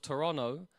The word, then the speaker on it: Toronto: You could be in the heart of Toronto and you could be the closest of individuals